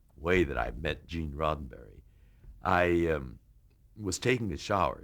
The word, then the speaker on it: Roddenberry: that I'm George Takei here to meet Mr. Rosenberry. And you're nervous enough as you are, but then when you're corrected that you had mispronounced the producer's name, that really throws you off.